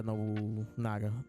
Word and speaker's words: Nobunaga: How you pronounce his name? Nobunaga? Yeah, Nobunaga.